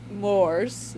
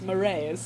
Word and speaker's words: mores: It was It's not Moors as I thought. It's moray. Yep. Like the eel.